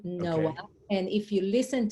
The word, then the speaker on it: Noa: And if you listen to it, it's Noa. Noa. There is no No age, H. no age, because Noah. in Hebrew, Mhm. Noah, Noa is a girl name. Okay. And Noah with the H, you pronounce Noach. And you don't have ch in English.